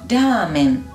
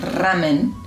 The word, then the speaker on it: ramen: Por ejemplo, ramen, ¿no? Un fideo con sopa no es ramen, es ramen.